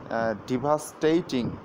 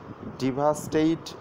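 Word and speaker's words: devastate: তো এই ডিভাস্টেট মানে হলো যে ড্যামেজ সামথিং ভেরি ব্যাডলি, অর্থাৎ কোনো কিছু খুব খারাপভাবে ধ্বংস হওয়া। এর সঠিক উচ্চারণ হলো যে ডি নয়, দেখুন হবে ডে, ই নয় হবে একার, অর্থাৎ ডেভাস্টেট, ডেভাস্টেট।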